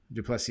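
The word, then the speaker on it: du Plessis: well don is not eligible um oh duplessis du plessy how do i say his name yep it's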